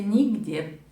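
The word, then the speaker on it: Niğde: в поселке черты хорах провинция нигде но это по-русски произношения по-турецки до будни их где что хочу сказать отдых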